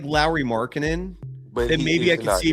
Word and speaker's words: Lauri Markkanen: I'm 150% sure it won't be Larry Markkanen. Mike Lowry. Mike Lowry. Mike Lowry. I'm Mike Lowry. Lauri Markkanen. That's how you actually pronounce Lauri Markkanen's name.